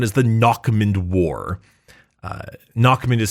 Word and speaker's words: Nachmund: um also known as the knockman War uh knockman is spelled n a c hm u n d